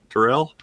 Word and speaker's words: Tyrrell: And then Susan, is it Terrell or Tyrrell? Terrell I've always pronounced it Terrell, but plays a reporter,